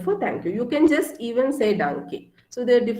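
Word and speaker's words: Tschüss: t but then it's not her so it's jus which means bye so this is a more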